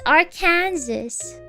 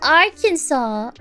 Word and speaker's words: Arkansas: Oh, it's a French pronunciation for Arkansas.